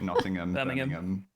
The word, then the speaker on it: Nottingham: It's uh anywhere with ham as well as just not ham. So like Nottingham.